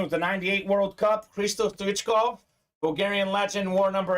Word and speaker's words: Stoichkov: you told me, I would have guessed Hristo Stoichkov. Yeah, that's not far off. Like the American pronunciation, that's usually how he gets pronounced. What is it? Hristo Stoichkov? Stoichkov.